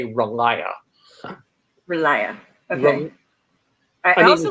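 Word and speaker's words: R'lyeh: And so I called it Arlia. But you call it Railia? Or how did you pronounce it? I mean, like, we're all guessing at this point, I think. But how do you say it? It's, you'd probably have to ask like ST Joshi or somebody like that to really know for sure. But I just say Relaya.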